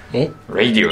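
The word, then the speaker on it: radio: 2 番はオラジオなんかレディオです発音は何度も言い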